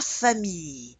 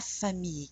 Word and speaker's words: famille: La famille. La famille. Can you say that? La famille. So the I-L-L-E is often pronounced like a Y.